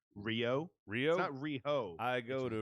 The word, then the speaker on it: Riho: a weird matchup yeah just call her riho by her name rio rio rio i go